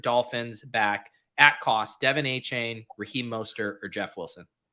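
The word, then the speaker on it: Achane: running back yeah um I also learned it's pronounced a chain from you and it made me like him even more I was like saying like akane or something I mean I I personally would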